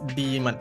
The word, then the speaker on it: Daemon: Yes, the official pronunciation is Demon.